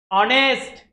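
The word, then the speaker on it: honest: जैसा है एग्जांपल देखिए ऑनेस्ट क्या है ऑनेस्ट नॉट नेस्ट ऑनेस्ट एच is silent इसकी वजह से उस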